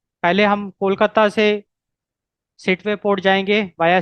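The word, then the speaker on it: Sittwe: आई am pronouncing it एज़ सिटवे। It seat.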